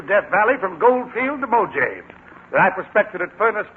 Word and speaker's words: Mojave: You should have looked up the pronunciation of some of those words. Real Death Valley prospectors don't call it Mujave, Mr. Newton, but Mojave.